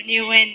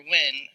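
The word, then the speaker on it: Nguyen: word wait wing so the thing about the Vietnamese language is that it's a monosyllabic language so every single word is only one syllable so wing is one word so new one is not correct last name last year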